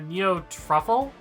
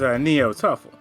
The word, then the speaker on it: Neo-Tuffle: Like a neo truffle? No, I believe the pronunciation is Neo-Tuffle.